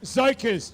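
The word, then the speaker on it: Tzokos: It's pronounced Zokos. Just forget about the T.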